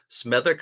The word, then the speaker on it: Smethwick: what's happening with the uh facility there in smic am I pronouncing that correctly that's absolutely correct smic spawn